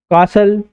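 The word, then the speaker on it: castle: T silent कहाँ होता है, लिसन, ऑफन, कासल, इसी प्रकार से क्या है यहाँ पर टी साइलेंट।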